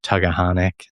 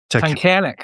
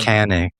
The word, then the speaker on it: Tunkhannock: I can't even pronounce the name of that town. Tuggahonic. Tunkhannock, I think. Tunkhannock.